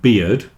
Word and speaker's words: beard: weird beard weird beard don't forget to pronounce the d on the end of beard otherwise you'll get confused